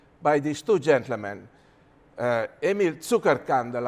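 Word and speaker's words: Zuckerkandl: The great discovery that was made 50 years ago by these two gentlemen, Emil Zuckerkandel, I'm using the German pronunciation because he was from Austria, and Linus Pauling, of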